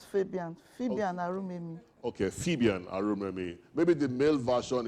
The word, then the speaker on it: Fabian: My name is Fabian. Okay, Fabian. Fabian and not Fabian. Fabian Arumemi. Okay, Fabian Arumemi.